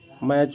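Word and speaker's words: match: जब TEN होता है, TEN या TCH होता है, में टी साइलेंट होता है। कैसे? लिसन, देखिए लास्ट का वर्ड देखिए, 10 आया हुआ है, 10, तो यहाँ पे जो है टी हमारा है वो साइलेंट माना जाता है। मैच हो गया, कैच हो गया, और गिल्सन हो गया, वैच हो गया, तो यहाँ पर देखिए टी जो है वो हमारा साइलेंट है।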